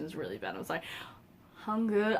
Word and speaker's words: Hangul: Hangul. I know that kind of this U is like a U that you say like in put or good, like So Hangul.